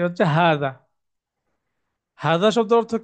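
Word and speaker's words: هذا: হার উপরে একটা খাড়া আলিফ আছে, যেটা মাদের হরফ বলি আমরা।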